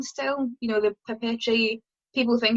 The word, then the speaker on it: papeterie: You know, the papeterie, people think it's paper tie or paper tree, but it's papeterie, which is the French word for stationery.